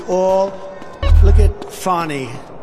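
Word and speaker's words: Fani: they're doing right now it's all look at fonnie f a n i it should be pronounced Fanny Fanny is a double wide fonny they say she gets very upset if you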